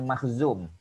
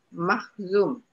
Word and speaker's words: Makhzum: Sebab dia daripada Bani Makhzum. Dia Bani Makhzum. Dia Quraisy juga, tapi bukan Bani Hashim, Bani Al-Muttalib, bukan. Ya, dia daripada Bani Makhzum. Makhzum.